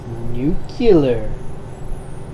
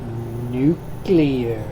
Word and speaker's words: nuclear: jet start thank you know one thing it's new killer it's pronounced nuclear although you're a historian this place is packed